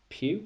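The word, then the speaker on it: Pugh: hanson in jojo rabbit florence pew i think she's pronounced in little women or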